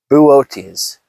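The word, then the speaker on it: Boötes: Okay, I've been informed that that constellation is pronounced Wait, how was it? How was it? Buote. Um, so the hunter there is Buote.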